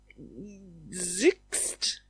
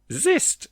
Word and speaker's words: xyst: Um, zix. Zist. It was very close.